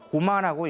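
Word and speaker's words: 高麗: 일본에서는 이제 고구려를 이제 고려라고 쓰고요. 고마라고 읽습니다.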